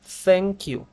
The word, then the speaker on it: thank you: Thank you Thank you ahora escuchen bien la pronunciación Thank you Thank you No no es una t normal como en español no es un Thank you tampoco es una t aspirada como thank you es un Thank you La th en inglés eem tiene dos pronunciaciones diferentes ya pero en este caso esta th suena más o menos como una Z del español de España ya ubican los Si